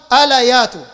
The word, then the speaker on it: أليات: تقوم الساعة حتى تضطرب ألايات، ده النطق الصحيح، ألايات نساء دوس حول ذي